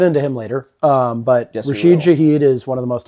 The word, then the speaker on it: Rashid Shaheed: That game ended before it even started with Rashid, how do you pronounce his name? Rashid Shaheed? Yep. Kickoff return touchdown. And we'll get into him later. But Yes, Rashid Shaheed is one of the most electric players on that team.